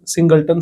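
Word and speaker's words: singleton: लोग क्या बोलते हैं, सिंगलटन सेट। कुछ लोग इसको सिंगलेटन बोलते हैं, कुछ लोग इसको सिंगलटन बोलते हैं, आपको जो सही लगे, आपका प्रोनाउंसिएशन जैसा भी हो, आप उसकी तरह से इसको यूज कर लेना।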